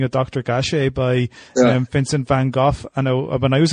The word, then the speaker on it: van Gogh: Dutch is a Bangalore van Gogh is in Dutch okay oh you cannot say because that sort of this guttural sounds is sort of typical Dutch but but that's the the Dutch pronunciation okay okay so quite